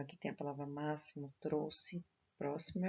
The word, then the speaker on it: trouxe: Trouxe. O X aqui tem o som de SS. Eu coloco o X, porém eu leio como se fosse dois S.